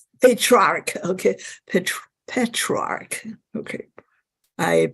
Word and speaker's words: Petrarch: Dark Ages and this term is coined by patriarch patriarch okay petrarch okay I pronounce it wrong patriarch is the 19 way